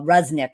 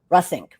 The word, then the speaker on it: Reussink: lives then um our discussion with Mariel uh rusnik is what you want to definitely be part of and I just pronounced her name incorrectly so let me make sure I get it right it's russing russink um and I'll have her correct me when